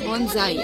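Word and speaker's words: bonsai: মতন বনসাই বনজাই বোন বনজাই সাইলে গাছে যে বনজাই একচুয়ালি প্রোনাউন্সিয়েশন ওয়াজ বনজাই বনজাই আর ওইটা ওটাও বনজাই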